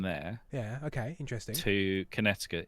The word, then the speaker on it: Connecticut: No, it's not how you pronounce it, is it? That's not, is it? It's Connecticut.